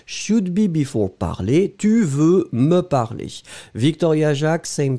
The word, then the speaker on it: veux: Ice cubes, be careful, tu veux, V-E-U. X, hein, remember, we don't pronounce it, but should it should be there.